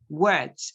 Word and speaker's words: worked: One is called, right? While the second is worked, ed, one pronounced D, the other pronounced T, worked and called.